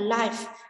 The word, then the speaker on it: live: Động từ thì chúng ta sẽ đọc là live, còn tính từ chúng ta đọc là life.